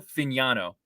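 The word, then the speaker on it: Fagnano: I want to make sure I'm pronouncing his name correctly. Joe Finaniano is his name. Uh he was well done. Well, well done there. Shout out to the Yukon PR pronunciation guide.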